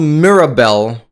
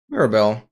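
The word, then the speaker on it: mirabelle: Oh, it's just called Mirabel. Mirabel.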